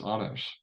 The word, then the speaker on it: Anders: honest um but yeah honest honors I say my name in Danish yes so I got